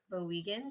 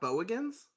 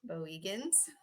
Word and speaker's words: Bowegans: Is that how you say it? Bowegans, yes. Not Bowigans? Bowegans. Yeah.